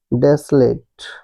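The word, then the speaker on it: desolate: एल ए टी ई है ना डेसलेट डेसलेट डेसोलेट ये कर इनकरेक्ट प्रोनंसिएशन है।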